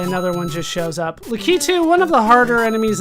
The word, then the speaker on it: Lakitu: And yes, it is pronounced Lakitu.